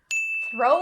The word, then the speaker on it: throw: Make sure that you're doing that voiceless TH sound correctly. Only air, don't make it throw. Not correct, that's the voice. So, throw. The second pronunciation point is in the word curveball.